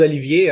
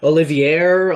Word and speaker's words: Olivier: go by Oliver because people see my name spelled with that extra eye and it just ah oliviera Olivier like they just can't